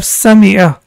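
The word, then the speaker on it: سَمِعَ: called Kasratun, and it has the E sound, as we have Sami'a.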